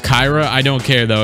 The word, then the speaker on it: Kira: I believe Kira Lewis, his name is actually pronounced Kyra. I don't care, though. It's just gonna be Kira.